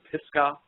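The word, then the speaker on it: Pisgah: and I found out it was called the pisca crater area and that's spelled p i s g ah and it's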